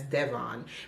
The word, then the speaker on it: Devon: And for the man in this book, I say his name as Devon because I'm Jamaican and that is how it would be said.